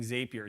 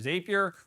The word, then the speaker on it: Zapier: The easiest way to automate your SMS messaging is to using Zapier. Zapier, or Zapier-- whatever way you want to pronounce it-- is just the glue of the internet.